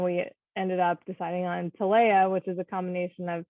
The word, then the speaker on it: Talea: I am unfortunately guilty of pronouncing it wrong. That's okay. Saying Talea, or I've been saying Talea, but it's Talea.